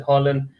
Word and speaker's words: Haaland: anything about that okay i've always said harlan i was probably the only guy that said it right straight back man you